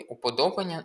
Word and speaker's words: уподобання: Якраз у цьому слові уподобання наголос правильно буде на о, а не на а.